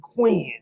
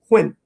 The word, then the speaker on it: Quinn: if you from here you call me queen even though my name has one syllable quinn oh okay queen we